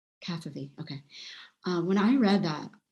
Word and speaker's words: Cavafy: How do you pronounce his last name? Cavafy, okay.